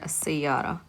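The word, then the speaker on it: السيارة: How do we pronounce this word as-sayyara? You have alif lam and the letter sin. Is sin a sun letter or a moon letter?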